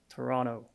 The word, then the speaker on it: Toronto: tip when pronouncing Toronto pronounce it without the second T just Toronto you'll instantly get browny